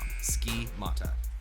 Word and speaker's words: Schemata: Schemata. Like scheme. Mata.